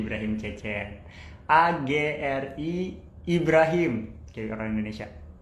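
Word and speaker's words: Çeçen: Terus Ibrahim Cecennya biasa, Ibrahimnya biasa, Cecennya C-nya pakai yang ada komanya di bawah, karena kalau misalnya C biasa itu dibacanya J.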